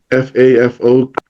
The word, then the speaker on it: fafo: And and some of you that know us know me, they have seen my FAFO video, how I learned what FAFO is. I did not know because FAFO is a Samoan word.